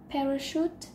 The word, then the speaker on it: parachute: chúng ta có cái từ parachute Nhảy dù động từ chúng ta trọng âm rơi vào âm đầu tiên theo luật xử câu